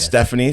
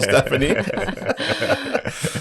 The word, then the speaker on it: Stephanie: that name you're like why is there a p in there then you got to try and explain why the p is silent but yes should be